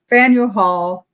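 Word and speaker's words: Faneuil Hall: in a prominade how do you go about pronouncing it Fel Hall I still said it wrong Fel Fel Hall Marketplace so I mean since we're there we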